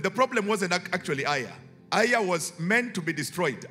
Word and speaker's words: Ai: And this was a city called by the name of Aiya. Okay, it sounds like a Kamba name.